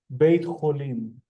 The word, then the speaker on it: בית חולים: Beit cholim.